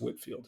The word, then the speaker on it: Whitefield: English Minister George Whitfield oh pardon it's spelled Whitefield uh pronounced Whitfield who spread the Great